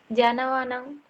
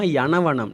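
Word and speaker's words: යනවා: நல்லா ஞாபகம் வச்சுக்கொள்ளணும் கம்ஸ், என்னன்னு சொன்னா, ஜாண்டு உச்சரிக்க கூடாது. இப்ப நாங்க யானான்ற சொல்ல ஜாண்டு உச்சரிச்சு பழகிட்டோம். சரியா? அதனால இப்ப ஜாழ்ப்பாணம், ஜார் கதைக்கிறீங்க அப்படின்னுலாம் நாங்க கேட்டு பழகிட்டோம். அப்ப அது யா அண்டு பழகாததுனால உங்களுக்கு அப்படி வருது. யனவாண்டா யனவா தான் வரும். ஜனவா வரக்கூடாது.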